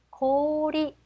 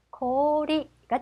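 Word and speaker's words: 氷: 아, 코 5단의 5가 왔네요. 그래서 코리 코리가 되죠. 오 발음은 들락말락. 이될 거고요.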